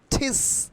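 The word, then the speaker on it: teach: তাহলে আমরা টিসের উচ্চারণ কিভাবে করব? ঠিস, ঠিস। টিচের উচ্চারণ কি করব? ঠিস। টি উইল বি ঠয়ের মতো উচ্চারণ হবে। টি বা ট এখন উচ্চারণ হবে ঠয়ের মতো। তাহলে টিস কিন্তু এখন আর হবে না, এখন হবে ঠিস।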